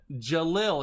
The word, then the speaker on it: Jalil: So what I'm going to, Jalil is how you pronounce it.